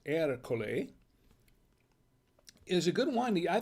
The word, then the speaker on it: Ercole: i think this erika it's pronounced er cole is a good one